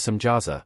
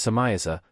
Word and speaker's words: Samjaza: The leader of these angels, known as Samjaza, sometimes pronounced as Samiaza, tells the Watchers that